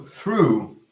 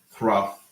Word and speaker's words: through: So through is correct. We don't say thruff, or throof, or thruh. We say through. Through. Through. Look at that. In the majority of cases, the GH is silent.